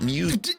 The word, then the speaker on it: mu: mu you heard it it's pronounced exactly like the pokemon mu seeing as the average